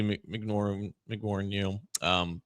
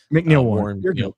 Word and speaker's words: McNeil-Warren: I can see McNaughton, that's not how you say his name. McNeil-Warren.